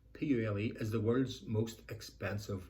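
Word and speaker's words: Pule: round five in serbia p-u-l-e i think it's pronounced purely as the world's most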